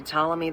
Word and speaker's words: Ptolemy: Upon assuming the title of pharaoh, he changed his name to Ptolemy I Soter, meaning savior. I thought you actually pronounced the P.